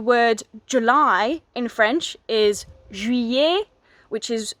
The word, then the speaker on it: juillet: So the word July in French is juillet, which is spelt J-U-I double L-E-T. So the double L is y, juillet.